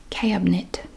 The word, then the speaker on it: cabinet: cats don't like it cabinet cabinet it's like c a b e t cabinet cabinet and this